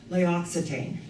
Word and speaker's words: L'Occitane: I loved it that Leisha Breen was voted that in the whole United States, the top skin care specialist with L'Occitane. And I pronounced it correctly, thank you, God.